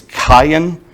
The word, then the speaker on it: Cain: versions of our bibles it's cayenne is how cain is properly pronounced in hebrew cayenne which i kind of thought was interesting you can see how it got shortened to kane though we see he's